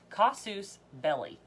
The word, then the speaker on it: casus belli: kazoos cos suits its cost is not K casus belli casus belli and it is spelled CAS us space so it's actually two